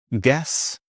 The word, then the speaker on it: guess: Silent U often comes after G and before E. For example, guess, maybe also before I. For example, guitar or guilty. Guess, guitar, guest, guilty. And a silent W.